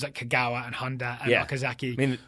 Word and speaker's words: Kagawa: who don't know Kagawa Kagawa right Japanese pronunciation you emphasized the first sitting so yellow level mm-hm emphasis on the first syllable yep right okay she